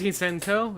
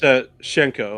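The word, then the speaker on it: Hsien-Ko: Squiggly versus Hisenko? Is it Hisenko? Is that how you say it? I don't know. It's Shenko.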